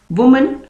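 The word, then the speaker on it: women: और नेक्स्ट है, ये है वुमन, वुमन का बन जाएगा विमेन। ठीक है, दोनों के प्रोनाउंसिएशन में फर्क है, वुमन और विमेन।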